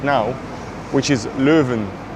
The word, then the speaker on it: Leuven: And the first city we lived in is actually this city I'm in right now which is Louven, how you say it in Dutch. And we're at the Louva station right now.